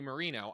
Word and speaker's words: Moreno: Earlier in March, Democrats scored a win in Ohio's Republican Senate primary when their preferred candidate, Bernie Moreno, I'm pronouncing that correctly, I looked it up, won with just a little over 50% of the vote.